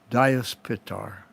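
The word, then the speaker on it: Dyaus Pita: so the sky father in sanskrit is pronounced in our in our language diaspitar and then we spell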